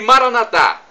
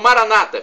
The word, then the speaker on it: Maranatá: E Maranatá, como dizemos nós católicos, ou Maranata, como dizem nossos irmãos separados, os evangélicos ou protestantes, não importa a pronúncia.